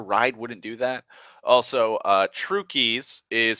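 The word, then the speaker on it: Trucchi's: Also, Trukey's is spelt like that. It's weird. I don't know why it's like True Cheese, but it's pronounced Trukey's.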